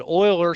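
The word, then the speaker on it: Euler: oil O's formula and that is the way his name is pronounced even though that's not the way it looks okay but Oiler somehow was able to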